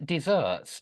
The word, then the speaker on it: deserts: Desserts um uh but spelled with One S that's it but it's pronounced desserts like two s's it's always confuses me